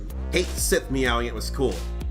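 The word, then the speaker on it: Cait Sith: lot and Kate s Kate Sith meowing it was cool that's how it's pronounced in Final Fantasy 7 anyway not Kate sheep Kate Sith meow meow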